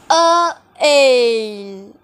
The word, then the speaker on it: œil: So it goes like œil.